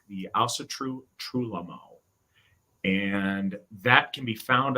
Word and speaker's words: Trúlögmál: go to the Ásatrú Trúlögmál, it's got a virtually silent G in the middle there, just in case you're typing it in.